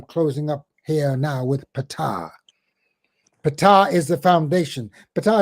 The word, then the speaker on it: Ptah: Ptah, by the way, we say Ptah because the R makes it easy to pronounce, but it's Ptah, Ptah, Ptah, Ptah, Ptah, Ptah, Ptah, Ptah, Ptah.